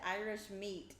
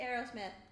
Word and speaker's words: Aerosmith: here's me arrow smith i thought you said irish meat what did i say you said aerosmith but the way you pronounced it sounded like you said irish meat really irish meat irish meat irish whiskey say aerosmith harrison is not the way you said it really we kind of